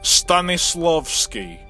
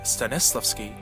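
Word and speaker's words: Stanislavski: the younger acting majors pronounced stanislowski or in English stanislowski he is believed to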